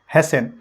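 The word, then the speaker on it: hasten: Next word है antonym of the word हैसेन। इसमें टी जो है साइलेंट है तो इसका प्रोनाउंसिएशन है हैसेन।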